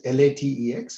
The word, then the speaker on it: LaTeX: Now, LaTeX, it's written as LATEX, but pronounced as LaTeX.